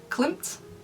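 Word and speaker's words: Klimt: inspired by, I think the artist is called Climpmp. It's spelled K L I M T.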